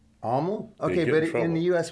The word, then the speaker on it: Amyl: Amyl and the Sniffers. No, it's Amyl. Amyl? Okay, but in the U.S. we say Amyl. That's because like amyl nitrate?